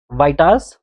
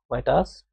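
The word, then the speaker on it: Vieta: ए, ठीक है, बाय वाइटास formula, ठीक है, बाय वाइटास। अब इसकी प्रोनाउंसिएशन कुछ अलग भी हो सकती है, बट स्टिल मैं इसको वाइटास फॉर्मुला बोलता हूँ, ठीक है, वाइटा, इट्स अ वाइटास फॉर्मुला।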